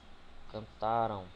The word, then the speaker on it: cantaram: ão nos verbos conjugados ele vai ser paroxítono certo exemplo cantaram Ou seja a entonação silábica mais forte se dará na penúltima sílaba cantaram e esse ão a